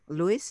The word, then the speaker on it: Lois: okay and Maria yeah it's because Lewis is the correct pronunciation okay anyway anyway anyway